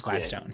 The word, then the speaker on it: Gladstone: you say it that's right yeah yeah James Gladstone yeah just hired 221 uh former LA Rams